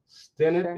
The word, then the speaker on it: Stennett: I've heard so many people pronounce that both ways. Sure. Stennett is the right way to do it.